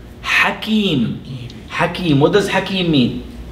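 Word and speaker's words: حكيم: The next word that I would like to cover, which rhymes with Alim, is the word Hakim.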